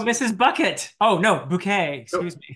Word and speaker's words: Bouquet: Oh, no, Bouquet. Excuse me. Bouquet. And her surname is spelled Bucket. Bucket. But because she has delusions of a higher social status, she insists on being called Bouquet.